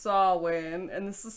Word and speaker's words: Samhain: like yeah because like if it's samhain is pronounced sawwin and this is spelled sam ganagans then it's